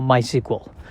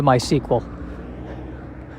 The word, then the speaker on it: MySQL: is how to spell my sequel it's i believe mysql but i believe it is pronounced my sequel as if it was spelled uh s-e-q-u-e-l and i don't know